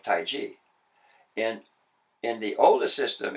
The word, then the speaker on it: Taiji: and in opinion it's spelled tae ji and that's closer to the pronunciation of Taiji in in the oldest